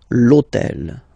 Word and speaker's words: hôtel: purpose this hôtel, okay, because it starts with H, but remember that in French we don't pronounce H. Okay, so basically the first sound of the word is the vowel O. Okay, so for the same reason, needs to disappear.